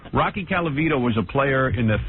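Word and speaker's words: Colavito: Rocky Calvito was a player in the 50s. I think it's Calvito, right?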